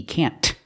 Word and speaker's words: can't: picnic stress the word you don't have to pronounce the T can't to express that it's